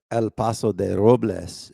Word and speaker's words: Paso Robles: the locals call it, Paso Robles. The people from LA call it Paso Robles. Paso Robles. It's actually El Paso de Robles is how you say it, but if you're local, we call it Paso Robles.